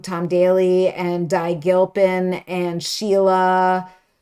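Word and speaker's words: Tom Daley: It has Tom Dale. Oh my God, am I saying his name wrong? Tom Daly and Di Gilpin and Sheila.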